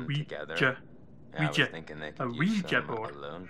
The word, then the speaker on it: Ouija: Desuden så betyder Ouija, ja på fransk og ja på tysk. Ouija. Eller det har jeg tænkt set, jø. Jeg synes, det udtales jø, så det er Ouija.